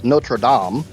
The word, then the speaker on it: Notre Dame: Um, even though it's properly pronounced as Notradam. Um, it's Notre Dame.